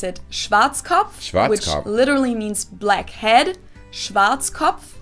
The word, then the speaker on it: Schwarzkopf: over the world pretty much in german we pronounce it schwarzkopf which literally means blackhead schwarzkopf english native speakers usually pronounce it schwarzkopf or schwartz cough or something along those lines yeah i've never